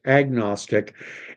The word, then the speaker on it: agnostic: knowledge power uh nosis an agnostic or an agnostic because uh an agnostic but it's typically pronounced agnostic is more or less